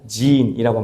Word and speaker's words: 진: 그래서 그 사람들은 지니라는 것은 영어식 발음이고 진이라고 말합니다. 진. 이 진은 어떤 세력이냐면 악한 영이 깃든 어떤 실존적인 육체를 가진 어떤 실존이라고 생각해요.